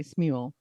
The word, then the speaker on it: Smule: I say Smule. I say Um, Smule because mule with an S, right?